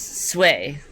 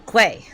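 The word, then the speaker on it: Cui: So, it's sway. So, it's c ui, but it's sway. And I was pronouncing it uh quay or qui, but it's sway.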